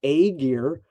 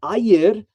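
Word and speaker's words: Ægir: It's spelled Aegir. You'll often hear people say Aegir, but Ayir is the lord of the deep ocean, and he is comparative to the Hellenic Oceanus.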